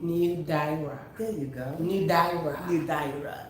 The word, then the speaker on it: Nildaira: So it's New, like new, N-E-W, Yes. new, and then Daira, like D-I-Y, excuse me, D-I-H, and then R-A-H, new. Nildaira.